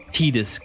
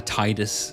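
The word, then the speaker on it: Tidus: Also, I am fully Tedis gang. I was always a Titus sa originally. I thought, why would it ever be Tedus? And then I found out how they spell it in Japanese and I thought, "Okay, that makes sense. I forgive you." It makes a whole lot of sense cuz he's named after the sun.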